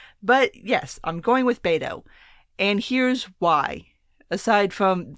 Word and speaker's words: Beto: surprise beta or orc which I'm pronouncing at bado some people say Beto some people say beta oh I'm going with bado because no matter what